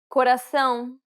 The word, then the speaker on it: coração: coração, Did you recognize the accent in this example? It's the tilde accent, indicating that the vowel is meant to be pronounced with nasality.